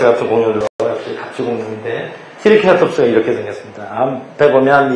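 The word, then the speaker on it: Triceratops: 트리케라톱스. 영어 발음은 세라톱스라고 하고 한국에서는 케라톱스라고 읽는데요.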